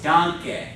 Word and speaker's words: danke: So the first A is a long A. The E is a short E. So it's not danke, it's danke. Because it's a short E on the end, all right?